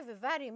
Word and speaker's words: vivarium: When I say vivarium, you must have heard of, yes, it sounds and it rhymes with the word aquarium.